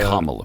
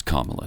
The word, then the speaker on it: Kamala: Has And been Kamala, by the way. It's Kamala, not If you pronounce I'll it Kamala, pronounce her you're a name.